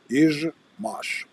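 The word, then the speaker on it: Izhmash: Ishmash. Izmash. That's how you properly pronounce it.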